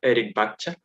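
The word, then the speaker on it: Rikbaktsa: The name is pronounced Erikbakcha in the language itself.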